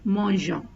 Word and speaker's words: mangeons: So you put in he here to pronounce as mangeons instead of mangeons. So we pronounce as nous mangeons because there is a E after the G.